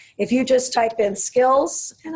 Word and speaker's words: SCILLSS: If you just type in skills, and I know it's spelled oddly, but it's an acronym, but it's 2 L's and 2 S's at the end, it will take you right there.